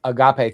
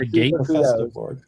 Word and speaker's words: agape: Well, agape, thank you for saying it correctly. It's a dinner after all. Be careful at that. Festive board. It's not a gate.